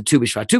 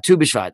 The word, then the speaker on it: Tu BiShvat: about it two bishfa tu bishwat we said the word two is not the number two it's actually two hebrew letters tess and valve which you pronounce them it sounds like the word two but what they are